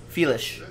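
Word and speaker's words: Félix: ship chase Xiao Felix although I think we looked this up and it's - Wow felis it's how he pronounces it I never get the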